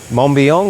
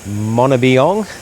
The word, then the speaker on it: Mombeong: We've just been dropped off to Lake Mombeong or Mombeong. Apparently there's 2 different ways you can pronounce it, so we're just going